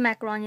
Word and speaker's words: macaron: cute little macaron and it's pronounced a macaron you guys not a macaron macaron search it up